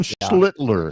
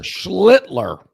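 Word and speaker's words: Schlittler: I'm glad you pronounced that. You have to annunciate that. Cam Schlitler. Schlitler.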